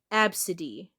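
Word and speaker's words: Abcde: capital A B C D E and it's pronounced absid.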